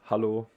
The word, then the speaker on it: Hallo: is really similar well in german hello is hallo so we would just actually pronounce it with a instead of e so there's not a big difference um as you can